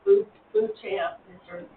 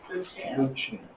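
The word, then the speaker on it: Beauchamp: no we're we're lovings the lady that owns the property we're buying is Bo champ that's how they say it Bo champ yes learn well I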